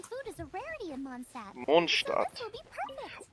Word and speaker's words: Mondstadt: that you mention it, Mondstadt, which is a German word, it means, world city. Which doesn't make too much sense, but, you know, whatever. That's how you pronounce it, is Mondstadt. But they kind of Americanize it, which is fine, obviously.